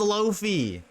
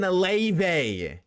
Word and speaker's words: Laufey: Laufey spells Lofi. Not fucking Leve.